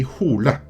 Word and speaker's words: Hole: own demons Harry Hole actually it is pronounced Hardy hula so you don't really have that double meaning in Norwegian the character is named after